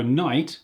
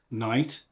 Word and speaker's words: knight: take a look at night and Knight so Knight with a CK Knight but pronounced Knight is a warrior in armor metal